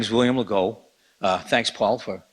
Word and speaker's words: Legault: My name is William Legault. Thanks, Paul, for pronouncing it correctly.